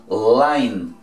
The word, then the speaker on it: line: ¿Cómo se dice la I en inglés? I. Entonces línea se pronuncia line.